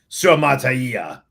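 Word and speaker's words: Suamataia: Say it again for the people in the comment section who are like pronunciation masters of Suamatai.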